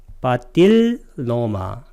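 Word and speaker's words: paṭiloma: 사실은 L 발음은 양쪽에 리을자를 풀어줘야 돼요. 그래서 빠딜로마, 여기는 아눌로마 이렇게 발음해야 되는데 그렇게 쓰면 이해하는데 약간 어려움이 있어서 제가 이렇게 썼으니까 이거 읽을 때는 아눌로마, 빠딜로마 이렇게 읽으면 되겠습니다.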